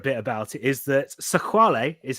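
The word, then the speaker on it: Sexwale: the my favorite bit about it is that sequale is how he's pronounced but he's actually if you read his name in English it's Tokyo sex whale that sounds like the headline for one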